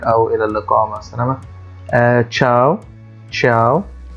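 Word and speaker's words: ciao: تشاو، تشاو، أو نطق تاني ليها تشياو أو شياو، لأن الكلمة أصلا كلمة إيطالية مش كلمة فرنسية، فلها نطق مختلف عن اللغة الفرنسية.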